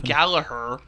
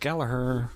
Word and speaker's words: Gallagher: That's his You were saying Gallagher. That's it. It's his name. Gallagher. It's Gallagher. It's Gallagher. Gallagher. It's pronounced Gallagher.